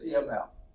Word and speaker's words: EMF: source of EMF okay just call it EMF don't try to pronounce it imp or something like that it's EMF any devices that increase